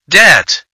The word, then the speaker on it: debt: silent letter is B debt the silent letter is B doubt the silent letter